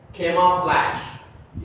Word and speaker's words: camouflage: G की pronunciation नहीं निकलती है, SH की प्रोनाउंसिएशन निकलती है, कैमोफ्लेज, कैमोफ्लेज, कैमोफ्लेज।